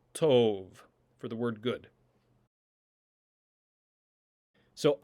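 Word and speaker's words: טוב: But in the word tov, you'll notice that the beit lacks the dagesh and therefore has a v sound, tov, for the word good.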